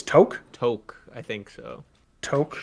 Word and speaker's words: toque: that you're correct that toke is the more accurate pronunciation the thing is is